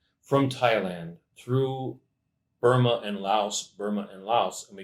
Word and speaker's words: Lao: running out from Lao it's actually pronounced Lao and Burma to get